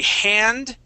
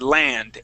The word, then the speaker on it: hand: It says, a hand on my arm. Okay, you had said land, a land. Okay, so we want to pronounce that H.